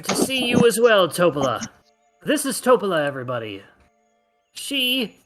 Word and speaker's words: Topola: No, my name is Topola, no surname. Accent on the toe. Topola. Topola. Sounds like a pudding.